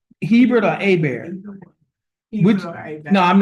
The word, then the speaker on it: Hebert: Do you pronounce Hebert or Aber? Which, no, I'm not, how do you pronounce it? I pronounce it. Hebert, okay, Hebert.